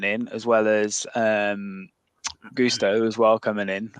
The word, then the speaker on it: Gusto: as well as um Gusto as well coming in I say Gusto Gusto Gusto pronouncing it like he's like one of those meal prep delivery services um with with gusto